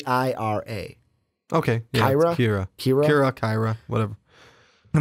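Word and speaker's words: Qi'ra: I was right okay it says here it's pronounced k IRA okay Kyra Kyra Kyra Kyra whatever I'm gonna say I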